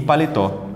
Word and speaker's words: paletó: Então, em médico é o mé, em cebola é o bo e em paletó é o tó.